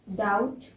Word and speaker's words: doubt: Doubt.